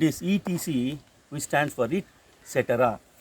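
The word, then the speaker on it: et cetera: Focus here, etc., which is from French expression it cetera.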